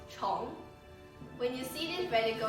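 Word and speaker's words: 虫: For example, the word worm or insect pronounced chong.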